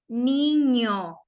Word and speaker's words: niño: And the example is the word niño as the NY pronunciation for the word canyon, right?